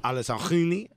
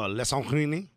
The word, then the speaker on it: Alessandrini: Alessandrini? No, Alessandrini.